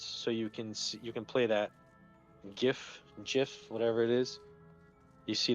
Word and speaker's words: GIF: That is part of the reason why the person that came up with the standard says it's pronounced GIF. Oh, so it's officially GIF. Yes. Is that right? Gosh. Nice. Technically, officially it is GIF.